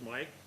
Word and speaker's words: Mike: My name is Mike. I guess I'll say trike. Mike, okay. Rhymes with trike.